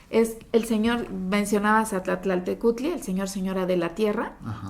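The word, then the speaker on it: Tlaltecuhtli: La más reciente, la Tlaltecutli, ¿sí lo pronuncié bien? Porque luego los nombres son medio difíciles. Sí, claro.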